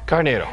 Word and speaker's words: Carneiro: Carneiro.